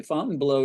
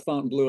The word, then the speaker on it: Fontainebleau: other players clubs so what's the deal with Fountain blow well you know good for you you pronounce it properly Fountain blow is really the way it's the French pronunciation